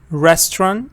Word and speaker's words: restaurant: first part again here restaurant stress on the first part uh this is another